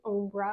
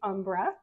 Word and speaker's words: Ombra: to pronounce it the Umbra I give it a little Italian flare but I believe it's generally pronounced the Umbra and I personally have